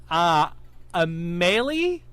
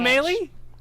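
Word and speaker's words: Amélie: Amelie? Oh. Crap, I said it wrong. Just by that laugh, I said Got it it. wrong. It's Amelie. It's okay. It is French. Amelie? No. Amelie.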